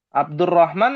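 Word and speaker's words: عبد الرحمن: Namanya Abdul Abdur Rahman apa Abdur Rahman? Abdur Rahman. Abdurrahman. Hm. Ya, rnya tasdid ya. Abdurrahman bukan Abdur Rahman.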